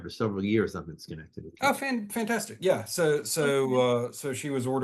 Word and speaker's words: Schenectady: Yes, Schenectady, that's right, yeah.